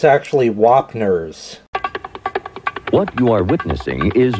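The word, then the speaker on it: Wapner's: Oh, and I realized that I mispronounced that. It's actually Wapners.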